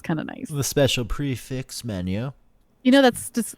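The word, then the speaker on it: prix fixe: of nice the special prefix menu you know that's just it's um pronounced prefi because it's French but prefi sounds so stupid like we we or something so you don't you say prefix little puffball dog I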